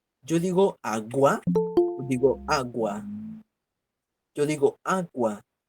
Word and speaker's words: agua: voz en este caso dime en agua Cuál es cuál es la sílaba tónica yo digo agua digo agua yo digo